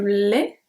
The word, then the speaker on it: lait: The next one is going to be a lait, because I don't say let. We don't pronounce the T.